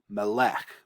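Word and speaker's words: מֶלֶךְ: If that arrow weren't there, you would pronounce this Melech with the accent on the final syllable.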